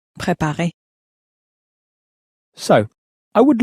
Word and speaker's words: préparer: Préparer. And let's try now to prepare. Préparer.